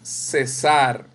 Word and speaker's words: cesar: César, no el nombre, es cesar. Sar, sílaba tónica aguda, porque está en el último lugar.